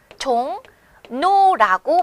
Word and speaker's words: 종로: 불편하기 때문이죠 그래서 실제 이것을 발음하면 종 노라고 발음을 하게 돼요 을로 써 있는 글자를 우리가 니은으로 다르게 발음한다는 거죠 의문이 변동하고 있는 겁니다 자음 동안 너무 어렵게 생각하지 마시고요 이렇게 을이라고 하는 글자를 발음하기가 로라고 힘드니 니은으로 발음해서 종 노라고 한다 결국 종로라이브 그래서 우리는